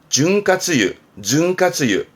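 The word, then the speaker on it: 潤滑油: 이게 윤활유 윤활유 준카츠유 요게 이윤 은행에 뭐 맡기면 나오는 이윤 발음은 리준 음독으로는 요 정도입니다.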